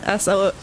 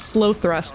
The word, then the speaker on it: Slothrust: It's spelled SLOTHRUST, but on their drum kit it says Sloth Rust. It's not Slow Thrust like you think it would be.